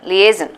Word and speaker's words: liaison: Lagarde but how many syllables Li a please liaison okay so three syllables so it's not lie it's not lying